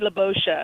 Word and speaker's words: Libosha: Well, I was thinking tomato, but I do go by Libosha.